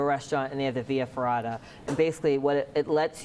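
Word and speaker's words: via ferrata: whoa I'm just gonna leave right up no via ferrada am I pronouncing it right yeah you are yeah the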